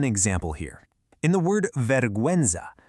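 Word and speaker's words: vergüenza: Let's look at an example here in the word veruenza. You can clearly hear that u sound. Veruenza. Same with binguino, which is binguino. Those two little dots literally give the u its voice back.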